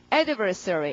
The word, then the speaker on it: adversary: 강세가 앞이거든요. 구분이 잘 돼요. 강세 때문에. 발음은 adversary 이렇게요. 자, 그럼 adversary 앞에 강세 해두시고 그 다음에 adverse라는 말이 그 불리하다는 거거든요.